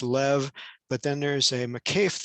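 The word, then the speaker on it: לב: creates the the word heart with a bait pronounced as a v sound so it's lev but then there's a mccafe there that ties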